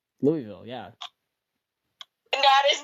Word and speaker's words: Louisville: Louisville, right? Where? Yeah. Oh, no, don't you dare say it like that. Why? Louisville. I'm from Louisville. Louisville, yeah.